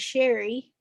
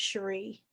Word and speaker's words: Cherri: I grew up thinking my name was Sherry because my grandmother is very southern and she mhm. could not pronounce Cherie.